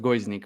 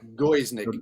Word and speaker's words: Gojznik: are going to be talking today with guznick Nick yeah it's hard it's hard to pronounce it it's like it's pronounced goes Nick but yeah go is Nick that's it right we are here today with